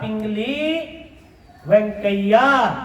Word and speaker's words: पिंगली वेंकैया: जिस व्यक्ति ने सोचा उसका नाम था पिंगली वेंकैया क्या नाम था मेरे साथ उच्चारण करो बच्चे थोड़ा नाम टे लगेगा लेकिन आप जब उच्चारण करोगे तो आप इसको सीख जाओगे बोलो पिंगली पिली